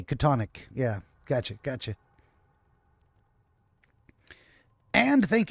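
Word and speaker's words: Chthonic: is the seal oh CH is pronounced with a K katonic yeah gotcha gotcha and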